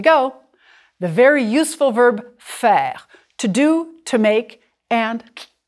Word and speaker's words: faire: Faire is like the sound we made earlier for je préfère.